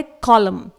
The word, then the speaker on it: column: इसी तरह से अगला वर्ड है कॉलम, COLUMN। इट इज नॉट कॉलम्न, इसे हम कॉलम पढ़ेंगे, एन को साइलेंट रखेंगे।